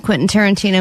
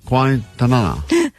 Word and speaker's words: Quentin Tarantino: Vanessa has never seen a Quentin Tarantino movie. Nope. And she's never successfully pronounced Quentin Tarantino. That's true. All week, as she's been talking about this prize we have, she's been saying, Quintanana.